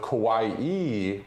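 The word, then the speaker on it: かわいい: And not to be mistaken with kawaii, with kind of the elongated E on the end, which could mean cute, adorable, something of that nature.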